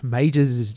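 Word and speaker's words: Maugers: go to majors meets or and this is majors you don't know how it's pronounced ma u GE RS comm dot au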